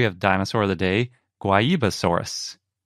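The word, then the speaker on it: Guaibasaurus: dinosaur of the day guayibasaurus it's a dinosaur from brazil so we're going with the portuguese pronunciation yeah it's spelled g-u-a-i basaurus if you can't tell by how we're pronouncing it but before we get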